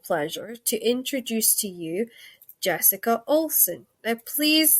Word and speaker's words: Jessica Olson: And now it is my distinct and absolute unbelievable pleasure to introduce to you Jessica Olson. Now, please say I actually pronounced that right, because I sometimes muck up people's names.